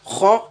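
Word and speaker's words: خ: Donc, il faut faire attention à les prononcer avec la gorge pour avoir la bonne prononciation. Donc, la lettre kha et la lettre ghain.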